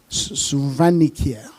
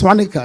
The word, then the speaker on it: Swaniker: Fred Swanika, the founder CEO of Sand Technologies. Sir, what is the correct pronunciation of your name? Suanikia. Of course not. It's just Swanica. It's very simple.